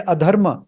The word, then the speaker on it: अधर्म: शेष धर्म with num piece of caution you know न वी प्रोनाउंस दिस दज वर्ड्स में सीम लाइक शेष एंड धर्म बट एक्चुअली बिकॉज ऑफ ट संधि एंड समास प्रक्रिया च हैपन इट इज एक्चुअली अशेष एंड अधर्म बट न combined it become like this